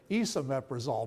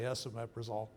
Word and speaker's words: esomeprazole: I noticed that the doctor said Isomeprazole. Maybe they all pronounce it that way, but the reason they got the name is because it's S, right? So I say Esomeprazole.